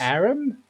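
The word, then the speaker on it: Harrim: is at your service Aaron so you don't pronounce the age all right fine Aaron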